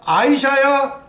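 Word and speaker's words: Isaiah: 트럼프 다음 킹제임스 버전 이사야 아이사야 예 이야라 그러니까 아이사야 그렇게 발음해야 돼요 이사야는 우리 발음이고 예 그니까 이사야 아사야 46장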